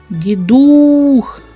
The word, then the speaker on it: Дідух: х він твердий приголосний давайте поставимо наголос у слові Дідух Дідух Отже наголос падає на у А зараз поставте